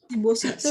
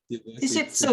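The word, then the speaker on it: 脂質: Shibositsu tapi bacanya apa? Shishitsu desu.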